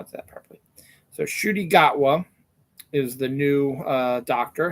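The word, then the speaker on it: Ncuti Gatwa: Doctor Who new Doctor Who actor how I pronounce his name Shi gatwa is how you pronounce it and now that now that I know how that properly so shudy gatwa is the new uh doctor and he looks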